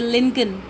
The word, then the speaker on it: Lincoln: Bismillah Khan became the first Indian to be invited to perform at the prestigious Lincoln Center, or we can say Lincoln. Okay, here the L is silent.